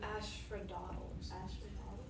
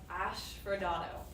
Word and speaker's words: asphodel: Fields of Asphodel.